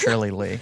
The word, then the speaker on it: Shirley Li: It's actually pronounced Shirley Lee.